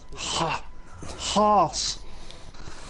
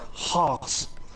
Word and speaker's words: Haas: Haas. Yeah, Haas.